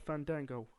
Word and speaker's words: Fandango: So the build up to this, Jericho mocking the name pronouncing of Fandango.